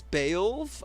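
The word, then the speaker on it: Beoulve: So they're saying the official pronounce pronunciation is beve. I I always like took it as more of a be bill be like a lower be not bale.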